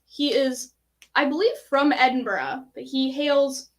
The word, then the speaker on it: Edinburgh: It's Edinburgh. Yeah. There we go. Yeah. From the border in Scotland, England, it's borough above it and borough below in pronunciation.